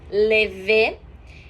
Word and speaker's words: levé: E o lever, que se fala como se escreve, a única coisa é que esse acento agudo lá, como a gente já falou antes, tem esse som mais fechado.